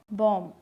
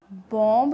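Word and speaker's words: bomb: मतलब लास्ट है वहाँ M और B एक साथ आई, जैसे बॉम्ब। इसे हम बॉम्ब नहीं पढ़ते, ये पढ़ा जाएगा बॉम्ब। क्लिम, कॉम, डम, लैम, क्रम, इन सभी के अंदर जो बी है वो साइलेंट रहता है।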